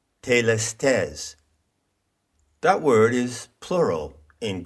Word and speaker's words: telestes: One of those words is telestes. Now that is an anglicized pronunciation of the Greek word telestes.